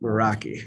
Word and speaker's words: Meraki: President, I move that we approve the 3-year license renewal for 20 Cisco, how do you pronounce it? Meraki.